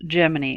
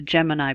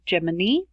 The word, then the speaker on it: Gemini: program, and it is actually supposed to be pronounced Gemini, although you will hear oftentimes in documentaries and even astronauts themselves talking about the Gemini program.